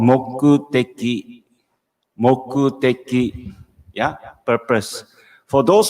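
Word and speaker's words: 目的: course the romanji, so you can catch the pronunciation, okay? So the purpose is called mokuteki.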